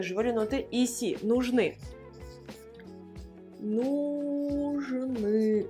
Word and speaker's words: нужны: Нужны. Нужны. I à la fin. Нужны, l'accent tonique sur le I.